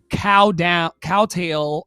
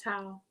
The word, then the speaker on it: kowtow: my own opportunities, because needing to cowtail, I think that's how they say it. Kowtow.